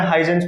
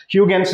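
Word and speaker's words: Huygens: सो HUGENS, ह्यूगेंस, यू कैन से ह्यूगेंस, है ना, ह्यूगेंस, है ना। हाँ, पहले मैं हाइजेंस बोलता था, ठीक है, ह्यूगेंस है एक्चुअली में, ह्यूगेंस।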